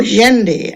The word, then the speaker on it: Jendi: Kerwally later became known as King Sandy, or Jendi, as it should be pronounced, of Brisbane.